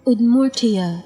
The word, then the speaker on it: Udmurtia: Udmurtia.